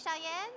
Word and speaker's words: Cheyenne: And I always tell people my name is Cheyenne. Uh sounds like Shyen Wyoming.